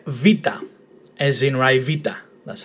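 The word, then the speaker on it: βήτα: Now, this is the letter vita, as in Rivita. That's how you correctly pronounce it, vita. And when you see it in a word, it's pronounced V, as in very, Van or Van Dyke.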